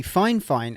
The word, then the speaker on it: Fifine: Now this is actually from the company Finefine. And yes, I know it's spelled Fifine, but it is pronounced fine fine.